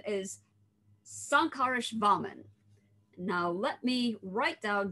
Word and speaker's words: Śankarasvāmin: So this person is, drum roll please, if I can get the stress on all of the syllables right, his name is Śankarasvāmin.